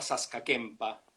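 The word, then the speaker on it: Saska Kępa: Se llama Saskakempa, pronunciado en castellano por lo menos, el barrio ese donde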